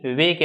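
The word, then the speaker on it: walk: बोलते हैं वो भी वॉक व ए एल के वाल साइलेंट है इसमें लगा दो वॉकिंग अंत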